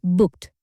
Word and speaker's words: booked: You can say, "I booked a hotel near the beach. I bought my flight tickets online." Here's a pronunciation tip. Don't say book. It's booked. Short and quick. Try it with me. Booked.